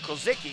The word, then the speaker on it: Kozicki: used to play here, Casey Kozicki is the way he wanted me to pronounce it.